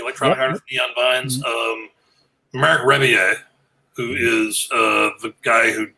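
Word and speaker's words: Rebillet: So Marc Rebier. Marc Rebier, hit up Stephen Fortner. He's looking for you. Rebelette is how it's written, but Rebier would be the French pronunciation.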